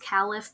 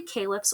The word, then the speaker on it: caliph: calips or calips um i think that i think it's supposed to be pronounced caliph but caleb works just as well the expansion under muhammad is our darkest color that's from 622 to 632.